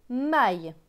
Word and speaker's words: maille: M avec A-I-L. A-I-L se prononce aïe. Donc M et aïe, maille. Donc ce mot va se lire les mailles.